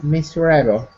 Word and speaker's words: miserable: Yeah, miserable. Look at where the stress is. The apostrophe is in front of the M, so that means the stress is on the first syllable.